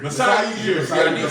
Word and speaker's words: Masai Ujiri: Sajiri, I'm saying it wrong. Ujiri or something? Yeah. it's Oh. Toronto. Masai Ujiri. Masai Ujiri.